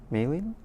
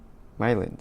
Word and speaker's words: Mylin: Oh, pronounced as smiling. Malin? Sorry, I need to look that up. Pronounced as smiling. Oh, Mylin, sorry.